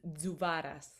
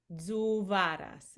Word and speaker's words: Zuvaras: Last name is Zuvaras. Say that again. Zuvaras. It's like a Zuvara.